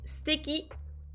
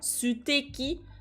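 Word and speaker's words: 素敵: qui est steaky donc en général on prononce pas trop on ninsiste pas trop sur le SU on dit pas su qui mais plutôt steaky comme s'il y avait pas vraiment le e steaky steakini na ici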